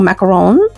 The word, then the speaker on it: macaron: And then I'll repeat the process and add a plastic macaroon, or macaron, say it correctly, in a French accent.